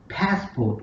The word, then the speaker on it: passport: The thing which has to be taken care of here, we have to stress pass, and the another the syllable like port, it is unstressed. So we have to say passport instead of saying passport.